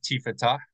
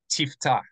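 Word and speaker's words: תפתח: So instead of tifetah, just tifetah. Instead of tifetah, we should say tiftah, tiftah, tiftah.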